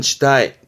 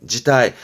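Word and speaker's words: 辞退: 발음은 지타이, 지타이.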